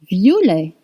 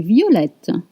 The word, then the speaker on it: violet: Pronunciation won't change if it's feminine. You just add an E. Same with rouge. Violet, violet, violet, violet.